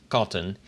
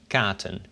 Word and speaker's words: katten: So with double T it's cotton. If you'd only had one T it would be katen, which doesn't really work.